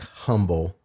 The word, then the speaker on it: Humble: from a place called Humble High School um spelled like humble but the H is silent well I'll be sure